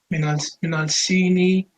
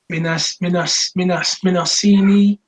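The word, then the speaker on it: من الصين: Minal Sini. Don't pronounce the lam, akhi, because the sad is a sun letter. Minasini.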